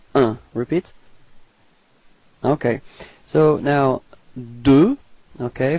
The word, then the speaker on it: deux: So now, deux. Okay, final X is not pronounced.